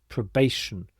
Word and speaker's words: probation: probation period again this TI combination is pronounced sh probation and the stress is here probation period This is